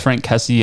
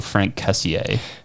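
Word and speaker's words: Franck Kessié: kessie uh i think i've heard it pronounced frank kessie and also frank cassier kessie sounds cooler yeah it could be frank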